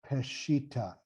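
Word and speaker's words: Peshitta: Peshita.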